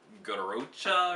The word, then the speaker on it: Garrotxa: one here is with i think it's pronounced garocha or something like that there's an x in there involved so anyway it's a